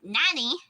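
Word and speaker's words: 何: It's nani. It's like saying somebody's name. Nani. Nani. Especially like if you watch Lilo and Stitch and the one girl's name is Nani, but it's not spelled N-A-N-A.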